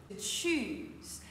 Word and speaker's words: choose: Le verbe choisir, choose. Alors là, il faut bien prononcer le CH comme ça. Ch, comme si on disait cha-cha ou bien ciao. Choose.